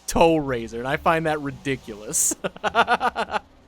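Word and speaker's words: Tow RZR: it's a tow razor they spell it t-o-w-r-z-r but pronounced its toe razor i find that ridiculous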